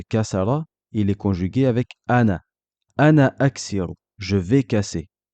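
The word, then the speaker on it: أنا: Le mot ana sera un peu spécifique. Lorsqu'on fera la liaison, c'est-à-dire qu'il sera suivi de quelque chose, on ne prononcera pas son allongement. Et lorsqu'on s'arrêtera dessus, on prononcera l'allongement.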